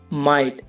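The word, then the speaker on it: might: For example guys, फाइट, माइट और नाइट। इन सब में वर्ड के लास्ट में जी एच टी है तो इसमें जी एच साइलेंट है।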